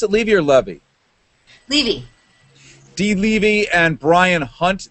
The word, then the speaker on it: Levy: Do you pronounce it Levy or Levy? Levy.